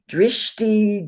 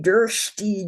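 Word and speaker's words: dṛṣṭi: And people say it all kinds of ways, mostly always wrong. Drishti, drshti, drshti.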